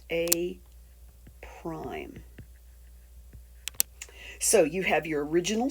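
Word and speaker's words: A′: So, if the pre-image were labeled A, then the image, or the new shape, would be labeled with an A and an apostrophe, and this is pronounced A prime.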